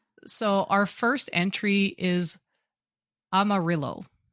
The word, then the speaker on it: Amarillo: So, our first entry is Amarillo. Oh, that's a city. It is. Yes. Texas. Yes. Yeah. It's actually It's probably pronounced Amario because it's the Spanish word for yellow.